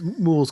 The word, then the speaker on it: mul: It's mules because it's supposed to be a pastiche of mule, which is very derogatory for those poor half dwarves.